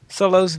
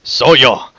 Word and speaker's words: Soyo: It's Soyo. Soyo? Yeah. He did not. Yeah, Look at the end of the email, but anyway. Yeah, he says it, but he says it. He says it rhymes with hello.